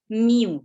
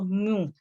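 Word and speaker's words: μ: Ini dibacanya adalah mew ya atau mu gitu. Meu gitu ya dari huruf Yunani itu.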